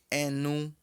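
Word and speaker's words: ẹnu: Boca pronuncia-se enu.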